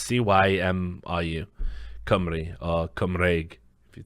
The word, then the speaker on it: Cymru: is literally applied Comrie as exactly how you pronounce cymru company or come reg if you're talking about